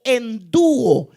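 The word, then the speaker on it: ἐνδύω: investidos, sino revestíos, que quiere decir, o se pronuncia en griego, endúo.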